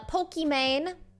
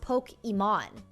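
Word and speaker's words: Pokimane: on his channel uh pokemane did you guys know her name is actually iman so her username is actually pronounced poke iman because her name is iman even though people call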